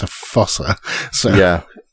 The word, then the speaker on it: fossa: I keep wanting to say cat, but it's a fossa. So yeah. A fusa, I think it's supposed to be pronounced.